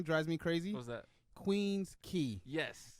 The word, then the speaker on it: Queens Quay: it's on Queen that's Queen's key he's like what like yeah I know I agree with you it's Queens Quay but it's pronounced Queens key he's like that's a